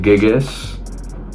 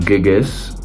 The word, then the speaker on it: gigas: I pronounce it gigas. To me, there's no right or wrong way to pronounce it.